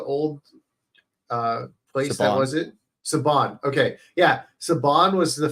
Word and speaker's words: Saban: Saban.